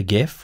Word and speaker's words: GIF: and save it as a gif or a jiff depending on how you pronounce that so we want